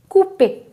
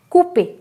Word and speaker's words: couper: Another example is Couper. C-O-U, right? Cou. P-E-R. It's a verb actually. E-R verb. Couper.